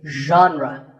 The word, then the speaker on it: genre: The correct pronunciation is genre. Pay attention to the first sound. It's like sh, but you have to put your voice into it.